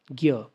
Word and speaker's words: ज्ञ: तो हिंदी में ज्ञ का उच्चारण ज्ञ हम ज भी बहुत बार पढ़ लेते हैं बट उच्चारण ज्ञ होता है।